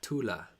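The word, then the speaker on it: Thule: occultism t t e but if it's German it would be pronounced Tula is it German I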